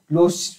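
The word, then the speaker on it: Loschmidt: question हमारे पास the lows मिटेड number is the number of तो दोस्तों द लो इसमें दोस्तों एस साइलेंट रहता है लोस मिटेड नंबर क्या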